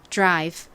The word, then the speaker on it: drive: 단어의 발음은 Drive 되죠 와 R 이렇게 연달아 나왔을 때에는 뒤에 디귿 소리에 지이 살짝 섞인 발음이납니다 그래서 드라이브 보다는 Drive Drive 이렇게 살짝지 소리가 나죠 따라해 보세요 Drive Drive이